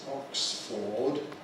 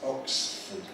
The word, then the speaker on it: Oxford: Notice it isn't Oxford. It's Oxford. Oxford. Oxford. Just say Oxford.